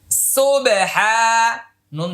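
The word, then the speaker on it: سبحان: এ তাসবিটা এখন বলছি সন বাপে স সুবে হা আলিফ জবর হা সুবেহা নুন জবর না সুবেহানা সুহানা তাহলে এটা কলকলা এটা এক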